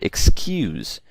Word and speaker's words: excuse: So for example, the word excuse, you can clearly see that the stress is on the second syllable and not the first one, okay?